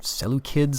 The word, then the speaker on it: Seleucids: Historically, of course, the Macedonian dynasty and the Seleucids, or Seleucids, I guess is how it's actually pronounced, with a hard C, but in any case, I'll continue to mispronounce it, I'm quite sure.